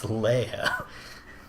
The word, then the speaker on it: Leia: How do you think Leah is spelled? Oh, that's Leia.